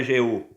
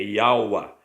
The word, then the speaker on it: Yaua: Esse J aqui, ó, tinha conotação de I. Ele era pronunciado antigamente como I. Então é Yaua. Tá vendo aí, ó? Não é Jeú, é Yaua.